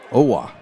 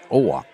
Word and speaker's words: Owa: Owa is the way they're pronouncing that name, so we'll pronounce it that way. Owa. Forget the J.